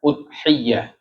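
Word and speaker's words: أضحية: berkaitan dengan ibadah kurban bidammil hamzati. Iya, bacanya udhiyah ya. Hamzahnya domah.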